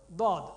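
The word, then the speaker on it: ضاد: Dad. Dad is from the sides. Okay? Dad is from the side, right side or left side or both sides.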